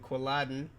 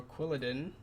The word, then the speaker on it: Quilladin: When Chespin evolves into this cool dude named Quilladin, or Quilladin, if you want to mispronounce it.